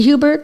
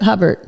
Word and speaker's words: Hubbard: Is it Hubert? Hubbard. Hubbard. Hubbard.